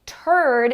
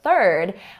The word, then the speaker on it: third: Even if you say something like turd instead of third, well, other people might